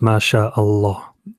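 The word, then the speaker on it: ما شاء الله: a separation between like when you say mass law you don't pronounce a law you you pronounce it directly is anything so becomes Masha Allah directly right I'm gonna apologize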